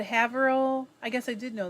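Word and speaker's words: Haverhill: know that michelle said haverill i guess i did know that new hampshire is pronounced have her ill oh good tina said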